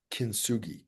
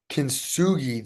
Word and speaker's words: kintsugi: Um, and the motto is this old, uh, apparently Japanese saying, and it's kintsugi, Kintsugi, kintsugi, which means technically golden joinery or golden repair.